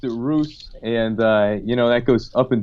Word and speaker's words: Rus: I've always pronounced it Rus, and that goes up and down.